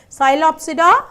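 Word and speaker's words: Psilopsida: classified into four classes cylopsida lycopsida spinopsida taropsida i'll read because these words are new to you i understand cylopsida lycopsida spinopsida tarapsida okay cylopsida wherever we you find p that is silent cylopsida lycopsidase spinopsida and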